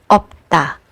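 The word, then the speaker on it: 없다: When you see this combination of final consonants, you only need to pronounce the first one, which is p, like in the word opta, which means to not have anything, or in Filipino, wala.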